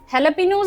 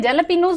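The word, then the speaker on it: jalapeño: रिल की ये है लापिनोज इसको बोलते हैं जेला पिनोज लिख स्पेलिंग जे से स्टार्ट होते हैं पढ़न लापिनो होता है जो भी उ है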